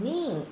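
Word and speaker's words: 眠: 면자 음으로 읽을 때는 밍, 스위밍 할 때 밍이라고 읽고요.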